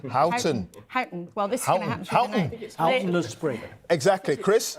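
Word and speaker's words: Huyton: Peter mson just picked me up on my pronunciation of hooton hton he says hon hton well this spring exactly Chris I think it's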